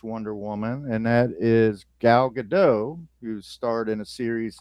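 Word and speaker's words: Gadot: Woman and that is Galado who starred in a series of movies recently. I think she pronounces it Gdat. Does she really? Yeah. She's not French.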